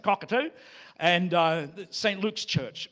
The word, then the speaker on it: Cockatoo: that they live in called Cockatoo. That's how the Australians pronounce it, Cockatoo.